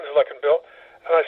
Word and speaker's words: Luckinbill: It comes from Switzerland, where it's pronounced Luckinbill.